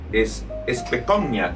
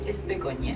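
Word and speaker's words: Specogna: es eh Especnia. Si no, si no eh pronuncié correcto, ¿cómo se pronuncia tu apellido? Eh, es pecoña. Es pecoña porque es de origen italiano, ¿correcto?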